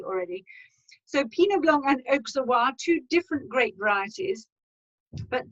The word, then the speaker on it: Auxerrois: Now, the next grape that you've got on there is Pinot Blanc and Auxerrois. We pronounce the X in Alsace, Pinot Blanc, Auxerrois.